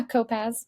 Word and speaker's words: Kopacz: Yeah, Kopacz. Kopacz. I was so close. The C is silent, not the Z.